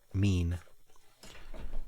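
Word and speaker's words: mien: Maine. I I never know how to read the pronunciation cards. Mean.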